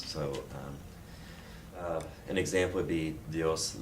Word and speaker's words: dios: So dios le bendiga, D-I-O-S, the I is pronounced a hard E, and O is pronounced basically like a dios, dios.